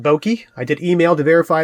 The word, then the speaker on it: Boki: You pronounce that Boki.